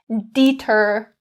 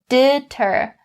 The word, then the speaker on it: deter: Don't change it to the long E. Don't say deter, deter. Not correct. We say deter, deter.